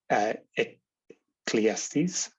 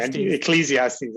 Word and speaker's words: Ecclesiastes: From Ecclesiastes. I said it wrong. Ecclesiastes.